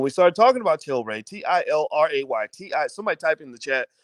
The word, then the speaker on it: Tilray: started talking about children t-i-l-r-a-y-t-i somebody type in the chat because somebody's always like well how do you spell it is it tay ray toray toray t-ray it's tilray t-i-l-r-a-y that's one can of